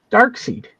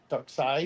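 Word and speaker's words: Darkseid: Dark seed. Dark side. Yeah. No, Dark Seed. Dark side. Oh, yeah. It is dark seed. Right. Right. Look at how it's spelled. Yeah. Missing proper proper English, not Americanized.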